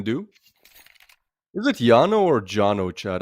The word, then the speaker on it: JANO: Is it Jano or Jonno, Chad? I'm pretty sure it's Jano because it's in Finland. So, I think they pronounce the J as as Y as uh we do